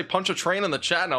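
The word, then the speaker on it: Pontchartrain: the two2 Super Chat punch a train that's what it is it's punch a train that's it I mean I keep getting different pronunciations punch a train that's what this lake is called any chance you can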